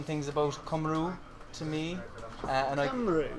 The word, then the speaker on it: Cymru: Cymru, it's Cymru. Was it? Cymru. I've been saying it wrong all along.